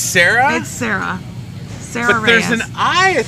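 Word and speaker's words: Sarai: making in this world and I said your name wrong Sarah I've seen Sarah spelled a lot of ways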